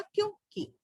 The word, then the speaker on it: क्योंकि: क्योंकि कैसे लिखा जाता है, देखिए आधा का है, या पे ओ की मात्रा है और उस पे क्या है, बिंदी है जिसे अनुस्वार कहते हैं, और का पे छोटी की मात्रा, तो इसका जो उच्चारण होगा वो होगा क्योंकि।